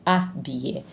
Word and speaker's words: habiller: We do not say habiller, we say habiller. It's as if that H was not there. So because the H is silent, we call that H muet, a silent H.